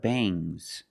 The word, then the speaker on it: bangs: When you have s after ng, it makes the nasal sound m, but it also makes a little g sound, but not a hard strong g. These are bangs. Bangs. There's a little g, but it's not bangs. Gz softer bangs.